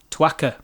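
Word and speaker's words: țuică: italian uh liqueur called i presume it's called pronounced twaka ah okay to akka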